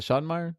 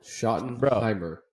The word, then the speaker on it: Schottenheimer: Him and is it Schottenmeyer? I think that's how you. Schottenmeyer. Is it Schott? How do you fucking pronounce his name? And you're a Cowboy fan. Schottenheimer.